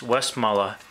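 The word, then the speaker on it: Westmalle: bit is the um actually the correct way to pronounce this is i've checked it's west muller westmorela trappist double it's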